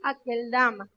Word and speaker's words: Aceldama: Por lo tanto, se traduce literalmente campo de sangre, tanto en griego como en hebreo se pronuncia aquel dama.